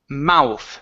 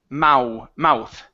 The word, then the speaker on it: mouth: Okay, this word here is pronounced mouth. So it's ow, mouth. Okay, mouth.